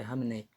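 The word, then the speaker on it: Khamenei: fizeram operação lá em no Irã e acabaram batendo o líder supremo, o o ali Camnei Hamnei, né? pronúncia certo é Ramnei.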